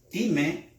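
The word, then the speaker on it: τιμή: Honra, del griego time, como se escribe en inglés para los que están acostumbrados, time, ¿verdad? Time, con acento en la E, time, para que lo entienda.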